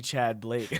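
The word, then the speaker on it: Tchad Blake: Yeah, there's just a T. Chad Blake. Chad. Yeah. I thought it was T Chad.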